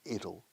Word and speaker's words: it'll: Como la palabra pequeño, ¿te acuerdas? Little, quitas la L primera. ¿Qué tenemos? It'll. Esa pronunciación de la contracción de it will.